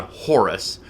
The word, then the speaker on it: Hor: But also, there were several falcon-headed gods, including the Egyptian god Horus, which that's actually the Greek version. The Egyptians pronounce it Hor, H-O-R, which obviously that doesn't